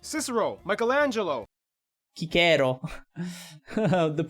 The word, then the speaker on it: Cicero: And you know what's also interesting, like the way Italians nowadays pronounce the C. Because nowadays it's more like a ch sound sometimes.